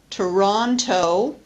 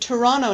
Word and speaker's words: Toronto: winter we say winter or the city in Canada Toronto usually the tea disappears oh oh I'm going to visit Toronto next week enter please